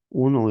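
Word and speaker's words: οὐ: tipos de adverbios negativos uno es el u o como se escribe el oou u pero como es un diptongo se debe leer u y otro es el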